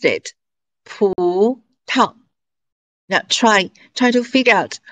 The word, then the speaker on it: 葡萄: Now, the second syllable is read as a neutral tone. 葡萄.